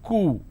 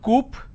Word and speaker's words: coup: derivatives apartment disagreement dislodge c-o-u-p is coo it's not coupe or cowp it's cool isolation quarantine